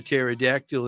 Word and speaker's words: pterodactyl: Why can't you Why can't you hear a pterodactyl in the toilet, man? Because the P is silent.